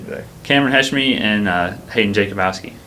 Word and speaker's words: Jakubowski: What's the proper pronunciation? We were just joking off camera about Jakubowski. Jakubowski.